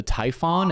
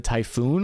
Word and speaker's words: Typhon: the same thing Cappy are you sure it's actually called the Typhon and not the typhoon launcher fair question I've been known to mispronounce a name or two in my day and admittedly I've gotten confused before in the past and called it typhoon launchers in previous episodes but this launcher isn't